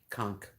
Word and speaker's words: conch: does her belly rubs conch shell that's how you say it yeah conk i don't know why the ch doesn't sound like that but it doesn't i've never been to